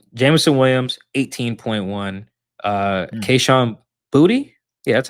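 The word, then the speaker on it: Boutte: Um Jameson Williams 18.1, uh Kahan Booty, yeah, that's how you say his name.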